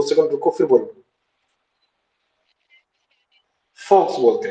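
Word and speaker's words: Volkswagen: हाँ लेकिन, यस, तो वो जो वी ओ एल के लिखते हैं, लेकिन वो वी जो है वो प्रोनाउंस होता है फॉ से, इसलिए फॉक्स वैगन होता है।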